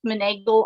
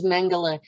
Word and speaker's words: Mengele: these experiments, like Joseph Meneghel on steroids. So I've been getting memories. That's how you pronounce it, is Mengele.